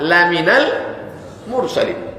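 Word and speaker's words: لَمِنَ الْمُرْسَلِينَ: Lam itu kalau pendek artinya sungguh. Laminal mursalin, sungguh engkau seorang rasul. Tapi kalau membacanya salah, dibacanya panjang. Innaka laminal mursalin, kau bukan seorang rasul.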